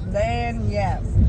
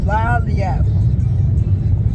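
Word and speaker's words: Lagniappe: And the parentheses, it's a la-yay. Let me, all right. So the restaurant is actually called Lanyap. Lanyap.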